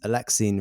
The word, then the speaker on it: Alexine: You did it, by the way. That is correct. I did it. We had a discussion about pronunciation of Alexine, which a lot of people get wrong, and you did right.